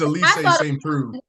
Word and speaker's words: St. Preux: Please tell me how to I've been mispronouncing your name for months. Please tell me how to say it. It's Elise St. Preux.